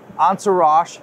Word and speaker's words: Entourage: good to see you good to see you answer rash yearbooks did I say it right that's right